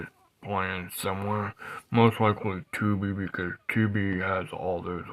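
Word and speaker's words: Tubi: Most likely Tuby because TubeB has all those old classic movies. TB is spelled T U BI.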